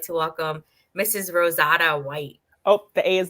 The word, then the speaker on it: RoseAda: So, RoseAda. yes. That makes sense. That makes sense. Because usually when names are spelled like that, it would be long.